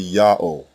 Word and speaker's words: Ya'oh: the first letter yah the second letter ha is silent it assumes the sound of the previous vowel and closes the first syllable the third letter W